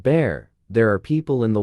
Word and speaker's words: Bar: She said that's the nickname she and my grandparents used for me when I was growing up, often shortened to Bar, pronounced Bear.